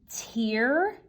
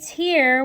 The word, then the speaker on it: tear: one we can say tear? When we say tear, we're using the long E sound, whereas when we're using tear, we have the long A sound.